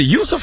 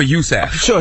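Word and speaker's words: Yusuf: Mack okay now youf is it Yousef or USF it's spelled youf I'm sure it's Yousef is a boxer from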